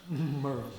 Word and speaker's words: Maryville: For those of you that aren't from East Tennessee, it's pronounced Merville. Merville.